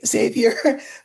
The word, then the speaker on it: Xavier: Xavier Becerra is was in the Obama administration.